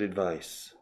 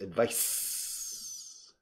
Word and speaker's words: advice: Daniela, is a good advice.